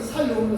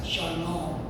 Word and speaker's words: 샬롬: 원래 이거는 살롬이라고 하는데 써 있기는 살롬으로 써 있어요. 근데 원래이 히브리어 발음은 샬롬입니다. 샬롬.